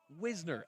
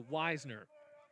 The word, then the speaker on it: Wisner: christy and said that it's actually pronounced wisner as opposed to wisener well i'm gonna have to chastise whoever i met from the bluefield college bullpen that told me it was weisner first pitch it's a